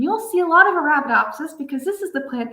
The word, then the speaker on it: Arabidopsis: So, it's it's because people have trouble pronouncing it. Arabidopsis thalana.